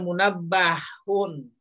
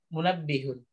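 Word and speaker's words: مُنَبِّهٌ: Jadi bacanya bukan munabbahun. Tapi bacanya munabbihun.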